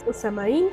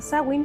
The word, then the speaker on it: Samhain: la primer festividad muchos le llaman samaín por como se escribe pero se dice sawin aunque muchos dicen que se llamen samin no sé se me hace extraño pero es sawin y este significa el